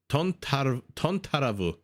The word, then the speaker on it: தொந்தரவு: Tontaravu. It sounds almost Japanese, no? ஏன் தொந்தரவு செய் You don't pronounce this A. Tontaravu.